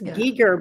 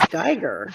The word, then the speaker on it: Giger: I'm sorry um every I think everyone says it wrong I think it's Giger but everyone says gger it's Kel it's Kel